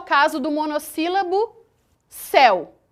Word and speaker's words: céu: o caso do monossílabo céu. Percebam que a palavra céu, a pronúncia dela é imensamente aberta.